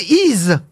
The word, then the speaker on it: Y: grec le village d' on prononce i he le nom de la ville mais ça s'écrit y une seule lettre dans la vallée de